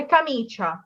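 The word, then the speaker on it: camicia: এখানে এটা হবে কামিচা, এখানে কা সি আ কা, এখানে আবার চি ই আ, কিন্তু আমি পড়ছি কামিচা।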